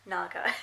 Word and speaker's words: naga: It's pronounced the same way as well, naga.